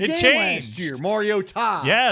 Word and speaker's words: Mariota: Looks like Mariota. Mariota. Oh, that's right. It's Oh, Mariota. that's right. That was during the It game changed. last year. Mariota. Yeah, there's a new emphasis on the syllable.